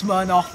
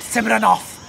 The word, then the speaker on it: Smirnoff: People barely can pronounce Smirnoff vodka. They're calling it Simranoff.